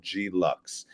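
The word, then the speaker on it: G Luxe: big uproar about our new travel collection called G Lux, and it's spelled GELUXE.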